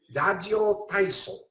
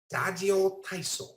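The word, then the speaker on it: ラジオ体操: And I'm going to use the Japanese pronunciation here. Dajo Taiso. Dajo Taiso.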